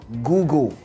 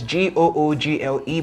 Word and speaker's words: Google: o g u l Google right the spelling is g o o g l e but the pronunciation is g o o g u l which is Google right